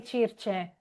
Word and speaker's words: Circe: Italian, because in Italian we would say Circe. What do you call it in English? I say Cersei.